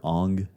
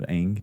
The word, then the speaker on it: Aang: They called the main character Ong instead of Aang.